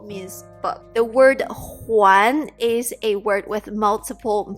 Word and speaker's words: 还: So just caution you that in the future, if you see this word out, like in a book, it could be pronounced either way, either huán or hai.